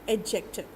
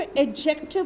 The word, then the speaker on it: adjective: आइए एडजेक्टिव, देखो इसको एडजेक्टिव बोलना, एडजेक्टिव मत बोलना, ये डी यहाँ पे साइलेंट है, ठीक है ना।